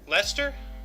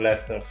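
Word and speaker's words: Leicester: how they pronounce it Lester sauce sauce But but so like like Chester or Lester yeah it's it's written like that but it's called Lester that's a weird name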